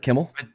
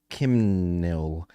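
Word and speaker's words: Kimnil: the way Gary does am I seeing it right Kimmel I don't think you are uh no there's an n in it not an m Kim nil we'll ask him that'll be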